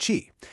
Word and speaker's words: Qi: This is Xi, pronounced Chi, and it's the world's first energy dollar.